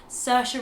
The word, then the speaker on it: Saoirse: Saoirse Ronan.